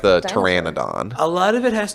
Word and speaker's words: Pteranodon: You know, not technically a dinosaur, but you know one creature whose like pronunciation kills me, Pteranodon. Pteranodon. Nobody seems to. So many people call it pterodon, and I'm like, Oh, I have heard it pronounced pterodon.